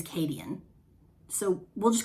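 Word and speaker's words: Cadeon: pronounce his name kadian in my brain when i read it i pronounce it uh caden i don't i don't i think in the audio version they his name is kadian so we'll just call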